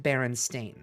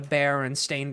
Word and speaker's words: Berenstain: it being spelled Berenstein, I always remember it being pronounced Berenstain. I kid you not. I was in a fucking, like, melded universe where it was pronounced Berenstain, but spelled with the EI.